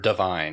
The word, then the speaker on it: Devine: But yeah, just it sticks in your mind that it's Divine because you're like, but it's spelled Devine, I think.